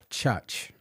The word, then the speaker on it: Chuuch: Church. I got to pronounce it correct. CHUUCH. No R in it.